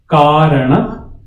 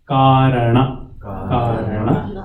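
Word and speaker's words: कारण: Karana. The N is capital, so you twist your tongue up. Na. Karana. Shariram.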